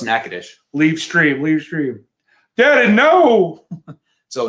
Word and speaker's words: Natchitoches: South of Natchitoches. Natchitoches. No, Natchitoches, but it's north of Lake Charles. I mean, that's... Well, you pronounce it Natchitoches.